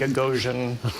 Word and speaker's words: Gagosian: ahead she learned that there was a very specific pronunciation of gagosian that people had to have as they answered the phone and that was sort you had to bring the name down at the end gagan so that you